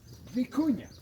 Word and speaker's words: vicuña: Our biggest national treasure, vicuña. You pronounce it with a V as Victor.